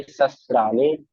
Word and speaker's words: शस्त्राणि: और दूसरी आपकी मिस्टेक है, आप श को स बोल रहे हो। दोबारा कोशिश करो, कोई बात नहीं। नैनम छिदन्ति शस्त्राणि, नैनम दहति पावका, न चैनम कलेद्यन्त्यापो न शोष्यति मारुतः।